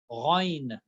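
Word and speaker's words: غ: All right, ain from the throat, ain, ain, ghain.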